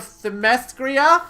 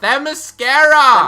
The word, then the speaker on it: Themyscira: I represent the nation of Themyscira. Themyscira! Themyscira? I can't pronounce my own country.